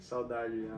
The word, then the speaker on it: Saudade: Saudade? Saudade, yeah. Yeah, I didn't know how to pronounce it.